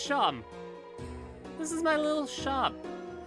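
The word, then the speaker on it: Seam: The name's, pronounced Sham.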